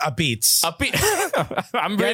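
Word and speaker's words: apizza: got in New York it's pronounced a beets have an a at the end you're not supposed to pronounce it all my Sicilian slang for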